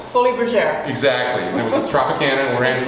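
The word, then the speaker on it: Folies Bergère: in a show and i'm going to pronounce it from texas it's the foley's berger but in french it's actually what fully exactly it was a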